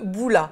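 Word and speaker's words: bula: Donc, il s'agit de boula. Voilà. Moi, j'aurais prononcé avec le M, mais apparemment, on ne prononce pas le M.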